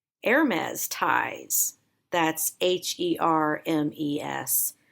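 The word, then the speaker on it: Hermès: The word this week is Hermes. Again? Hermes. Again? Hermes. Hermes, which is French.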